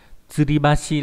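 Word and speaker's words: 吊り橋: Thì âm cương đọc là Hashi hoặc là Bashi, ví dụ trong từ Hashi là gì nhỉ, Hashi là cây cầu, Tsuribashi là điếu kiều, là cầu treo.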